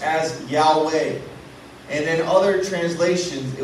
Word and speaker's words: Yahweh: it was actually spelled YH wh and it pronounced as Yahweh and then other translations it would say Jehova